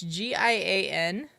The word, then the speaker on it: Gian: Her 11-year-old son's name, I'm guessing you pronounce it John. It's Gian.